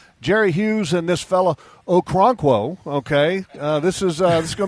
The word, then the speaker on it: Okoronkwo: And his name is Ogbo Okoronkwo.